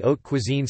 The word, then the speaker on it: haute cuisine: Haute cuisine, pronounced haute cuisine, high cuisine, has foundations during the 17th century with a chef named La Varenne.